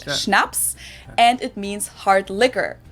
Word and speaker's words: Schnaps: In German, we spell it like this and say schnaps and it means hard liquor.